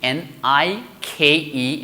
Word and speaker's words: Nike: right and of course one famous company n i k e is going to be Nike and of course you must